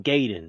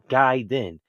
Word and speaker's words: Gaiden: base y got to stop saying gay and start saying guy then but basically basically it's